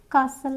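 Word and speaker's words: castle: T silent है listen कासल यहां पे भी हमारा टी साइलेंट है अब यू कहां पे साइलेंट होता है?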